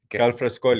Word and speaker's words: Galfrascoli: You pronounce that well, Galfrascoli.